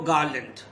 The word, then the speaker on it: garland: One flower makes no garland. R is silent. Garland.